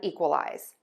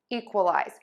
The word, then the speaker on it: equalize: And that is that we're going to use this short sound in the middle of the word, that schwa sound. And the reason is that as words get longer, the beats get shorter. And so we're oftentimes going to have that short, quick schwa sound in a longer word.